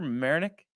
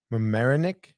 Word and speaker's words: Mamaroneck: lives in Merrimack or what how do you pronounce it Tony in New York America you don't know in Westchester marinick Mamaroneck yeah I can't believe you like you Mr